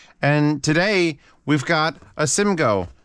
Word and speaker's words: Simgot: today we've got a Sim go simgot Sim go it's probably the t is silent the king Wonder or